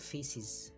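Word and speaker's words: faeces: হলো এফ এ ই সি ই এস এটার উচ্চারণ হলো ফিসিস ফিসিস এটাকে ইউকে তে বলে ফিসিস এর উচ্চারণটা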